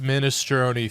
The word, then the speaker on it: minestrone: It's pronounced minestrone, Phil.